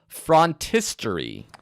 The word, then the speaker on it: phrontistery: with number 1, which is called frontistery, Frontistery. which is kind of a unique word. It's spelled Phrontistery, frontistery.